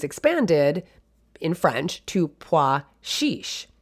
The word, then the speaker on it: chiche: CHICHE. Now again, different sounds for the CH. In French, it's chiche. It's a soft SH sound, and that's chiche. And it was expanded in French to pois chiche, right?